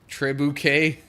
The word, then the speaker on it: trebuchet: Trebuchet, I think is how that's supposed to be pronounced.